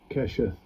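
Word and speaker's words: קשת: I had the pronunciation here. Strong's H, 7198. Kesheth. Bow. Right, that's how you pronounce it in there.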